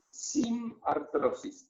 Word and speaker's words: sinartrosis: Y ese nombre, en cambio de fija, nosotros decimos que esto es una sinartrosis. Todo junto. Sinartrosis. Sin, como no tiene, sinartrosis. Artrosis, ¿vieron como la enfermedad de esta patología?